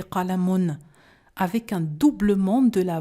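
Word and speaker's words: قلم: Je prononce « qalamun ».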